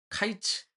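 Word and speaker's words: קיץ: 이게 어 발음이 카이츠 캐츠가 좀 유사합니다.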